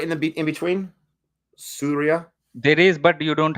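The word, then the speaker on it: Suriya: It's same like the Surya Kumar Yadav, but Okay, spelling is different, but still the pronunciation will be same. It's called Surya. You can say Surya. The spelling is Surya, but when we say it fast, we say Surya.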